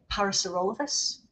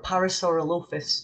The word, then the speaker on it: Parasaurolophus: Actually, my favourite dinosaur is Parasaurolophus, or Parasaurolophus, depending on how you pronounce it.